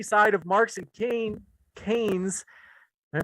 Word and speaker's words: Keynes: one economic philosophy side of marx and kane keynes am i pronouncing it right yeah keynes thank you read also the chicago school and